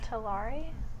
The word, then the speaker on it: Tulare: It's pronounced Tulare.